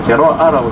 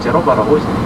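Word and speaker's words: Genova: 제노아라고 하지만 제노바라고 해서 발음합니다. 제노바의 그 뭐랄까 상인들이 이 땅에서 살았었어요.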